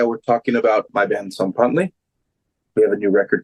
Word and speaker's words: Tzompantli: I'm going to try and pronounce it correctly. Yeah, Tzompantli. Tzompantli. Tzompantli.